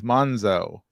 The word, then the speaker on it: Monzo: Yeah, it rhymes with Gonzo. Only it's Monzo.